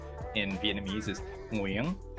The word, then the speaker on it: Nguyen: It's very difficult for most people to say, but the key thing to remember here is that it's one syllable. It's monosyllabic, so it's win, like win or lose. So my name is Nguyen, and that's enough, right?